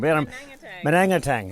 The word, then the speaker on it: Manangatang: Mananangtang. Exactly. It's a roll off the tongue. Manangatang.